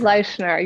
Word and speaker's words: Leischner: And then her last name is spelt Leischner. Shannon Leischner, or is it Leischner or Leischner? Leischner, you got it right.